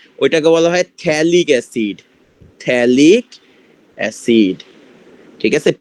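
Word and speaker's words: phthalic acid: থ্যালিক অ্যাসিড, ঠিক আছে? পিথ্যালিক অ্যাসিড, পিটা এখানে সাইলেন্ট থাকে।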